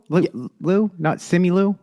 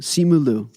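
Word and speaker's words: Simu Liu: I need to see simulu man it's Sean Chi delivering the Christmas story not similu simu simulu okay I just want I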